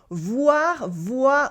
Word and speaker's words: voire: Voir with un E in English, is a word that means or even. It is pronounced in the same way as the verb voir, to see in English.